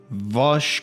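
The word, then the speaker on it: Vaush: Ian Vosh Koczynski, for example, you've already said, you've introduced him.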